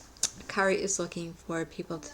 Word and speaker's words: Kari: Kari Innings Ainsworth, and I've been pronouncing her name Carrie, and it's Kari.